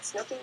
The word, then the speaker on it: Snooki: Isn't it cute that Snooki rhymes with cookie?